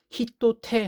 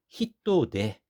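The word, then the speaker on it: 人手: 손 숫자 써 가지고 원래 우리 손을 테라고 하잖아요 근데 여기에 태는 히토라 하는이 명사 다음에 바로 붙이다 보니까 발음을 편하게 하기 위해서 탁 점을 붙여 탁음화 시켰어요 그래서 히또 테 하면은 발음이 어렵죠 히토데 바로 일손 노동력을 얘기하는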